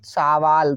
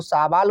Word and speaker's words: सवाल: पढ़ेंगे इसे पढ़ेंगे हम सावाल तो सावाल उच्चारण सही है यह गलत है सही उच्चारण सवाल है आई होप आपको समझ